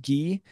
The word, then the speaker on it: Guy: But in French, the accent is actually pronounced Guy, and it's just Guy is the least cool name you could have.